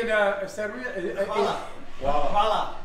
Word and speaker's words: Hvala: Hvala. Hvala. Guala?